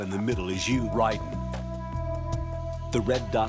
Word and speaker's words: Raiden: It It's like Ryden, but it's spelled like you say Raiden.